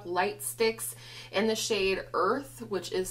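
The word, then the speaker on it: Urth: This is the ColourPop Light Sticks in the shade Earth, which is spelled U-R-T-H.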